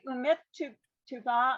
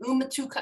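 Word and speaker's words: ומתוקה: It's umatuka, I think, because the u is its own standalone, and then the mem has a shva that it doesn't otherwise need. So you have to give the mem a sound. Umatuka.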